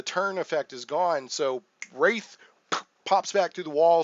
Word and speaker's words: wraith: And I think I grew up calling it a Wrath, but I think Wraith is the correct pronunciation.